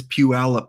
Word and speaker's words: Puyallup: Yes, it is Puyallup, folks. Don't pronounce it any other way.